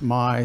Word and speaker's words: MI: is called my login everything in michigan starts with mi because michigan and it's pronounced my so you may think